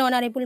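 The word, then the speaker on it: honourable: আর এইচ দিয়ে যদি কোনো কাউন্টেবল নাউন শুরু হয় কোনো শব্দ এবং এইচের উচ্চারণ যদি আয়ের মতো হয়, আ যেহেতু স্বরধ্বনি, তাহলে সেই এইচের আগে অ্যান ব্যবহৃত হয়। An hour, an honest, an অনারেবল ম্যান।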